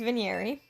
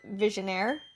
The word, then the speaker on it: Vigneri: My character's name is Vigneri. It's French. You can also pronounce it Visionaire, but I think Vigneri sounds prettier, so that's how I pronounce it.